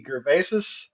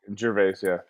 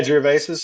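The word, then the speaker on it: Gervais: Is it Ricky Gervesus? Oh, that Jerves. Yeah, Jerves.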